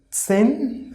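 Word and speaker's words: zehn: ten in german is sen sin see jade is so so half of right so see h we are not going to pronounce here like if we will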